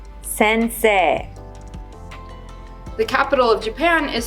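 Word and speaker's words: せんせい: word for teacher sensei is written but is pronounced sensei sensei the capital of japan is spelled to but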